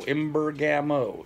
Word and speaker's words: Imbergamo: or Imbergamo. I-M-B-E-R-G-A-M-O. Imbergamo. Easy. Yep. Spelt just like it's pronounced.